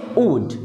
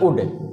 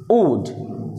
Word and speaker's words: wood: अच्छा, ये लिखा है WOOD, इसको असल में पढ़ेंगे ऊड, ना कि उड, ऊड, ठीक।